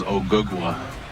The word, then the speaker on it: Ogugua: My real name is Ogugua. Ogugua?